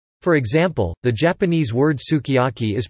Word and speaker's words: sukiyaki: For example, the Japanese word sukiyaki is pronounced su kajaki and may sound like skijaki to an English speaker, but the lips can be seen to compress for the u.